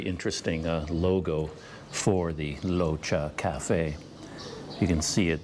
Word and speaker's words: Rocha: a thai name and it's not pronounced with an r sound it actually has more of an l sound so it's more like locha so it's not roca at all in fact